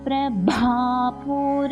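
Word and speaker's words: प्रभा: பின்னாடி வச்சு உச்சரிக்கணும் நிஜாரு பிரபா மகாபிராணம் பிஹ அழுத்தமா உச்சரிக்கணும் பிரபா பூர பூர மஜத் மஜத்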